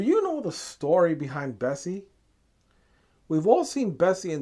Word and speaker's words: Bessie: she acquired her name Bessie was more known as or pronounced as BSE which stands for basic service equipment now if you were to pronounce BSC as a word it would sound like Bessie so there you have